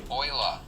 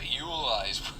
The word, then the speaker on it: Euler: "Oiler" is how we're supposed to pronounce your name, but you're dead, so "You-ler"-- I'm going with "You-ler." It makes more sense to me. It's got an E and a U and an L and an E-R.